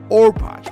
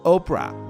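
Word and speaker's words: Orpah: Ruth as a child people regularly mispronounce the name as Oprah which eventually caught on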